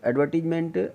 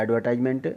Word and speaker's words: advertisement: तो एडवर्टीजमेंट या एडवर्टाइजमेंट, आपको दोनों ही प्रोनाउंसिएशन अप्रोप्रिएट हैं, कोई इसमें प्रॉब्लम नहीं है।